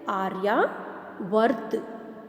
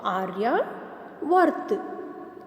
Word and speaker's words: आर्यावर्त: कैसे प्रोनाउंस करेंगे? आर्यावर्त। 2 हाफ र है तो आर्यावर्त।